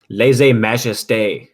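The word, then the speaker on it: lèse-majesté: How do you pronounce this thing here? Laissez something. Who is it? Majesté. Majesté. Laissez majesté.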